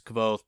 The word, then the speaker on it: Kvothe: story and he's like my name is kvothe pronounced nearly the same as koth uh names names are